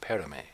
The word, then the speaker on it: Paramay: While many would say Paramay trades or Paramay, the pronunciation is actually Paramay, which is short for Paramaysareh.